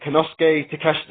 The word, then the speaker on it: Konosuke Takeshita: I can never pronounce that right. Konosuke Takeshita, there we go.